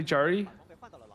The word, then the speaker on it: Zeri: Oh, so you're pronouncing it the way Koreans do. Yeah, don't they all say Jerry? Oh, did they? So you just call it Jerry because like the Koreans do.